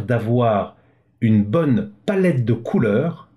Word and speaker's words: Kuler: Et vous allez voir que c'est comme ça que je le retrouve, parce que Couleur, K-U-L-E-R, se prononce en couleur, c'est pour moi beaucoup plus facile.